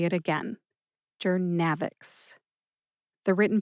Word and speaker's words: Journavx: Put all three syllables together and you get jernavics. Emphasize that middle syllable, nav. See if you can hear that emphasis when I say it again. Jernavix.